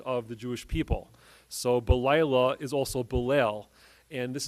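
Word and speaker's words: בלילה: If you look at an actual scroll of Tanakh, the word balayla is spelled without the letter Hey. It's actually spelled Bet Lamed Yud Lam. It's pronounced balayla, but it's spelled Bilal.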